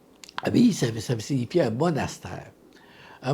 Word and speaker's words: abbaye: Souvent, surtout auprès des jeunes, là, abbaye, comment ça se prononce? C'est-tu abbaye? Hein? C'est abbaye. Abbaye, ça signifie un monastère.